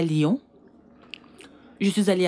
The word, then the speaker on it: Lyon: Reine mère, on dit Lyon. Lyon. Tu n'as pas besoin de faire comme moi avec les lèvres. Juste prononce Lyon.